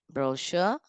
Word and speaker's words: brochure: Brochure, shallbury, and sache.